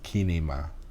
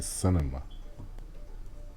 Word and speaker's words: cinema: It's kinema. In English we say cinema.